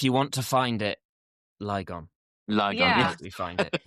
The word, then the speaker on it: Lygon: It's pronounced Lygon, but if you want to find it, Lygon.